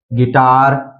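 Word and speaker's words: guitar: इसी तरह है गिल्ड, गिटार, फिर है गाइल, गार्ड, बिस्किट, तो इन सभी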